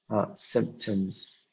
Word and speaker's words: symptoms: So we have the stress on the first syllable, sim, which is here the stress in the first one, symptoms.